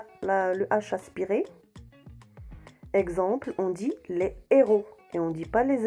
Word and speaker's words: héros: dit le handicap haricots ont dit le haricot héros le héros hauteur la hauteur je répète voilà